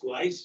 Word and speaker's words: Gleiss: Okay, action item number 4 is the city of Westfield and Gleiss, is it pronounced Gleiss?